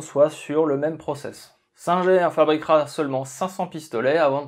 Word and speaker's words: Singer: Oui, Singer en anglais, si vous préférez, mais admettez que la marque est suffisamment implantée en France pour que je la prononce à la française.